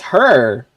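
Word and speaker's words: H.E.R.: who and no it's her but that's actually how you pronounce their name right is her it's not like h e r yeah I know I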